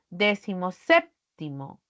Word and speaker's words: decimoséptimo: lleva la ti Pero si yo lo junto el primer elemento va a perder la mayor fuerza de voz porque recaerá en la antepenúltima sílaba al pronunciarla decimoséptimo aquí Ven setio por